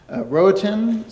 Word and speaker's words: Rohatyn: of the, I have no idea how to pronounce this, Roatan Center? You got it.